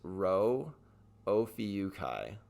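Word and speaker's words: Rho Ophiuchi: that is that is this is hard to pronounce but it is row o Kai and so what that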